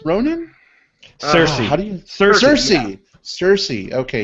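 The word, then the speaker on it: Saoirse: 45 years and uh how do you say series Ronin Cersei do cers Cersei Cersei okay yeah or something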